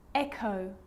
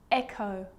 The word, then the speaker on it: echo: occasions it's not pronounced the h is silent so it's choir choir echo echo with a g ghost